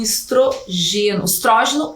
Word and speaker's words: estrógeno: a progesterona e o estrógeno ou estrogênio. Pode ser pronunciado das duas formas.